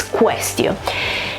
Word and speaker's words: quaestio: These two letters here, A and E, together when they're next to each other in Latin are pronounced E, so it's quaestio.